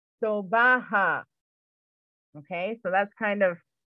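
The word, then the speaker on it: sobha: now write this down s-o-b-h-a is pronounced in a three sybil as so ha sobaha okay so that's kind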